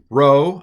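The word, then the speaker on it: rho: this is p p row again I'm sorry it looks like a p but it's not in Greek it's a row it's a r um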